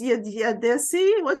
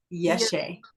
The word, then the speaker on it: Yeshe: So yeah, it's Yadesi. How is your name pronounced? How is her name pronounced? Yeshe. Yeshe? Okay, Yeshe.